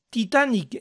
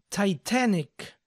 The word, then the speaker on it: Titanic: de algunas películas famosas Titanic en inglés se dice neck Titanic Titanic recuerden pronunciar bien las tes que sean Sonoras para que suene correcto Titanic Avatar se dice